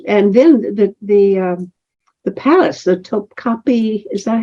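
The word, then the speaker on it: Topkapı: Is and then the palace, the Topkapi. Is that how you pronounce it? The Topkapi, Yeah.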